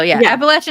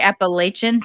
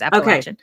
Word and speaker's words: Appalachian: talked about this area before, that I might mispronounce the name of the Appalachian. Is it Appalachian? So Appalachian is correct. So a lot of people say Appalachian. That's not correct. It's Appalachian.